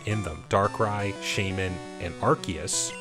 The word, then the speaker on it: Arceus: them darkrai shaymin and arceus or rcs rks however you want to pronounce that it has been misspoken throughout all the years so i'm just go i'm just going to say arceus and if you have any